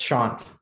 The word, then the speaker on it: Shant: And last but not least, Shant. It's Shant. Thanks, Julie. No worries. Hey, I'm Shant, pronounce he, him.